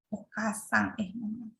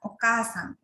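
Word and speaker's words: おかあさん: Jadi contohnya itu okasang. Contohnya itu ya okasang. Okasang itu ibu ya. Jadi o ka a sa.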